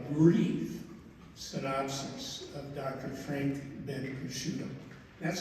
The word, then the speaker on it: Bencriscutto: Frank Ben Kushido.